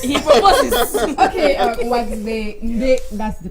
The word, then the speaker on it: Nde: Nde, that's the pronunciation.